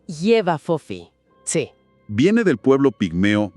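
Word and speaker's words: J'ba Fofi: Bien, empecemos por el retrato de esta criatura, el nombre Jefa Fofi, que se pronuncia algo como Yeva Fofi.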